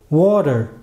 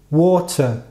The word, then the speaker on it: water: Se eu fosse americano, eu provavelmente pronunciaria essa palavra como water. Mas, enquanto eu sou britânico, eu falo water, como schwa no final.